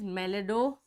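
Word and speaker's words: Meloidogyne: The pronunciation is a little different from everywhere. So it is Melidogyne.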